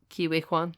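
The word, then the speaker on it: Ke Huy Quan: Even Ouroboros, he's barely, like, I like Ki-Hoi Kwan, is that how you pronounce it? Ki-Wei Kwan, yeah.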